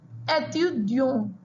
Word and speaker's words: étudiant: That is the reason we have used the accent aigu on E, which gives the pronunciation étudiant.